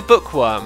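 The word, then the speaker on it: Boekworm: to say my name hint the part is pronounced book okay Bookworm what did I say a moment ago boek worum thank you for the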